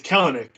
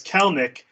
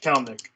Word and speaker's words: Kelenic: A lot because everyone's like it's Kelenic, and then we're like no, it's Kelenic. Here's a video of him saying it's pronounced Kelenic.